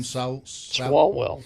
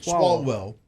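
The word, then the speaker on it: Swalwell: Salwell. Swallwell.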